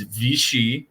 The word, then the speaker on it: Vichy: so Vichy Vichy France I've never heard it pronounced it's it is it is Vichy France Vichy Vichy all right so you say